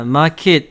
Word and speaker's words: market: 자, 이 발음을 마켓이 아니라 market 해주세요. market. 그래서 E로 발음이 많이 납니다. 애가 아니라 E로 발음이 많이 나고요.